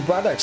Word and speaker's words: Braddocks: And I just said his name wrong. It's actually Braddocks, not Brothers.